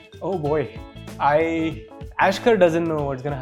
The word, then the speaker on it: Aishkh: Yeah the the K from the epiglotus. Yes. Yes. So Ashkar what is there for us for the next 5 years?